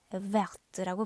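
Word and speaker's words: Werth: 그런데 W를 V로 발음한다는 거. 그래서 얘는 리옹 하게 되면 요거는 프랑스 이름인데 뒤에 있는 단어가 불어가 아닙니다. 그래서 약간 독일계 이름이라는 걸 알 수가 있고 발음을 할 때 베르트라고 발음을 해줍니다.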